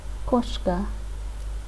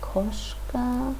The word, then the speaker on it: кошка: Koshka. In this word, the letter O is stressed, and we pronounce it as O.